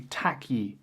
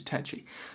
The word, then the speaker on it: Takyi: I said, hey, nice to meet you, Takyi. I just so vividly remember him saying, that's really not how you pronounce my name, man. And he like phonetically spelt out the correct pronunciation, which is Takyi.